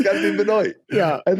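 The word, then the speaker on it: Benoît: It's got to be Benoy. Yeah. And then when I meet a Benois and they're like, "Who are you?" You know, it's pronounced Benois.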